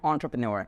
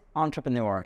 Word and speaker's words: entrepreneur: difference between businessmen and entrepreneurs first of all the correct pronunciation is entrepreneur it's not entrepreneur entrepreneur this is not a right pronunciation entrepreneurial word it has uh come from French language okay businessman businessman woman